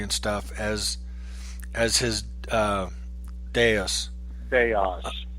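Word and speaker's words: Deus: stuff as as his dais they de us whatever yeah the deuce you said it right I did did I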